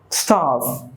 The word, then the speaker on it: starve: Starve. That is the right way to pronounce. Make sure you pronounce the V correctly. Starve.